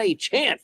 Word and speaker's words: Achane: And I got to say it correctly, Devon Achane, 51.3 points.